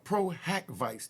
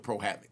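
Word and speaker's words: pro hac vice: that Busby has to seek proag Vice now Pro hack Vice that's how it's pronounced PRACK Vice p r o- haav Dash uh VI but we you know the court system we just call it pro Havoc now I'm G break down what Pro havoc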